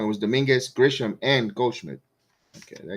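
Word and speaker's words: Domínguez: It was Dominguez, Gisham, and Gosmith.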